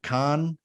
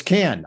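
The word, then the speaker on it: Cannes: just got back from Khan uh had a lovely time there I'm sorry not true I'm hearing from the booth uh oh it's canned I mispronounced it she's not denying that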